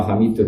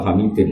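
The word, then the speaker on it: حميدٌ: Bacanya ya tetap ila hamidun karena i'rab hikayah. Enggak boleh kamu baca ila hamidin apa? Tetap bacanya ila hamidun majid maring lafaz hamidum majid karena i'rab hikayah.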